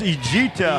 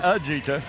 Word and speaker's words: Ejita: or I did, but it is Ejita Holmes, not Ajita.